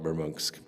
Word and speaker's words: Murmansk: I don't think it's a big hole like this, but this is Murmansk. I know it's spelled Murmansk, but Russians call it Murmansk.